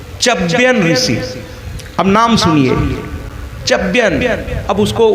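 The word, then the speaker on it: च्यवन: ऋषि अब नाम सुनिए चयन अब उसको उच्चारण में आधा च य व न है अब उसको जिस तरह से उच्चारित करना हो कर लीजिए कुछ लोग आधा व मानते हैं कुछ लोग पूरा व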